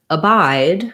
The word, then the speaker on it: abide: so we'll cover that as well so in abide we have second syllable stress so our clear vowel is going